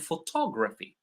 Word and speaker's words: photography: The same for photograph and photography. Photograph the stress is on the first syllable. Photography is on the uh on top. Photography.